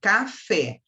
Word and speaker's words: café: Então, eu trouxe para você aqui, ó, café. A sílaba átona é o K, a sílaba tônica é o Fé.